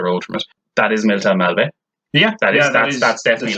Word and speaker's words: Milltown Malbay: So, firstly, it's pronounced Milltown Malbay.